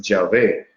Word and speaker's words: Yahvé: Algunos estudiosos de la Biblia han acomodado que quizás la mejor traducción o la mejor pronunciación para este tetragramatón es Yahvé, y algunas de nuestras traducciones de la Biblia, de Biblias modernas, utilizan la palabra Yahvé.